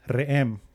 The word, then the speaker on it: re'em: Cuando llegan a una palabra que es re'em, se escribe R-E'-E-M, que significa un solo cuerno.